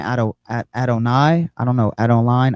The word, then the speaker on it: Adonai: Um, it's Adonai. Yeah, it got to be Adonai.